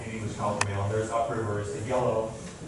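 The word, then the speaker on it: Halq'eméylem: which means child, and Haukamalam, which means Haukamalam. It's an upriver pronunciation of the name of the language. And you're like, okay, the sound is N, so why did we pick Nila and Haukamalam?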